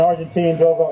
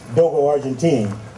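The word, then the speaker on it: Dogo Argentino: you very much folks this is an argentine dogo actually actually i believe the pronunciation is dogo argentine all right you just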